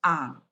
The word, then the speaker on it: ang: Si sounds like si in English, and ang has a nasalized sound with stress on the letter A, pronounced as ang.